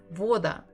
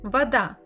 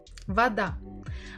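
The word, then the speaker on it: вода: ways so first is Voda does it sound as they said no so let's try again weather it does sound that so we stress ah not o and that's why the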